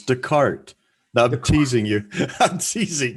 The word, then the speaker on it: Descartes: philosopher called uh rene descartes okay cartesian well your cartesian plan comes from him you know the cartesian xy dennis you're saying his name wrong it's descartes i'm teasing you i'm